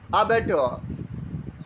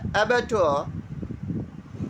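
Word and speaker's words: abattoir: आज का हमारा पहला वर्ड है अबेटोर। अब यहाँ पर प्रोनाउंसिएशन में आपको आर साइलेंट रखना है। अबेटोर, अबेटोर का मीनिंग यहाँ पर कसाई खाना है।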